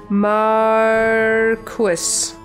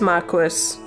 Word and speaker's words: Marquess: ] how do you say this word Oh mark wis it is Marquess oh it's Mark II and French it's a